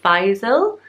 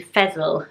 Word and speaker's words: Faisal: couple of different pronunciations apparently it could be Faisal Faisal more like that or other people say it should be Faysal rhyming with vessel so let me know